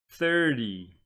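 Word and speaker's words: thirty: want to pronounce this one you would say 30 so the former is pronounced the former is pronounced 13 13 this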